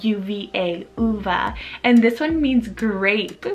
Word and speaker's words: Uva: And you can do Uva or Yuva if you really want to for an English pronunciation.